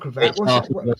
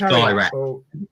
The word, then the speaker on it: Kairat: It's not Cravat. It's Kairat. Kairat, yeah.